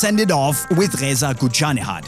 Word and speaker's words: Ghoochannejhad: And let's end it off with Reza Ghoochannejhad. I think that you said it very correct. It's a Ghoochannejhad.